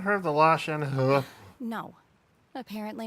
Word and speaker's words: Shenhe: It's pronounced Shenhe.